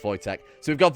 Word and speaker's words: Wojtek: what Jack what what okay I know it's pronounced Wojtek so we've got voice at the polar bear we've got the horn the